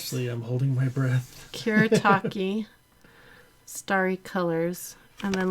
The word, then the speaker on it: Kuretake: And Kuretake is Kuretake. Yeah, they couldn't tell by my fancy pronunciation.